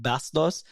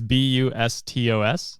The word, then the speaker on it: Bustos: name is spelled, but if they're Filipino and you just call them Pam Bastos, Bastos means disgusting in Tagalog. So hopefully you pronounced their name right. It's Bustos. That's Bustos.